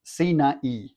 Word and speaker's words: Sinai: In Hebrew, Sinai is pronounced Sinai, and it means thorny.